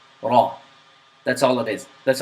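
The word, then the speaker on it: ر: The ra is pronounced slightly with a vibration of the tongue, but the vibration is not exaggerated. So it's not raw. It's not raw. It's just raw.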